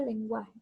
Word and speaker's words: lenguaje: La palabra lenguaje. Lenguaje. Aquí está la mayor fuerza de voz, entonces la sílaba gua, ahí es la sílaba donde recae el acento.